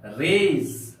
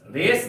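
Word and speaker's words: rays: के समान हो जैसे आर ए वाई एस इसका उच्चारण होगा रेज रेस नहीं पले रेज रेज का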